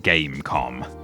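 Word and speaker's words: Game.com: And yes, you don't pronounce the dot, it really is just Gamecom.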